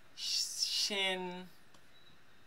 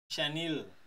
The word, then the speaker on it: Shaneil: This time is Shen. I know you pronounce it again, man. Shaneil.